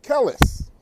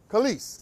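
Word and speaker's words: Kelis: you guys hear about kellis right i'm not pronouncing her name right kellis yeah kalis thank you kalis so khaleesh thank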